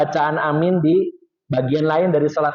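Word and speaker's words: آمين: Jadi yang benar adalah panjang A-nya dan min-nya, terutama min-nya lebih banyak.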